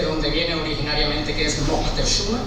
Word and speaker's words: Moctezuma: Es buscarle forzado la Yo creo simplemente Sí, que sí, es una secuencia fonética extraña al castellano, ese Moctezuma, y lo normal es que en el habla popular se convierta en una pronunciación más cómoda, Montezuma.